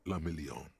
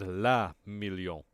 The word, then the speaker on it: le Million: Guillaume le Million. He said la million. It's le million. Guillaume le Million. Motherfucker. If it doesn't rhyme, you're not pronouncing it right.